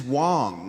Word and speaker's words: Wang: So it's So that's, _ WANG. and it's Wong, not Wang. Yeah, Oh. I'm always conflicted about the way to pronounce it, but in Chinese it's Wang. It's Wong.